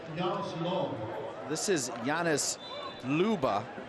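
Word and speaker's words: Loebe: This is Janis Luba. He's from Germany, so it's spelled L-O-E-B-E, but pronounced Luba.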